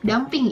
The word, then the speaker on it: dumping: dunia internasional yang ketiga dumping atau damping yang bacanya damping itu adalah penetapan harga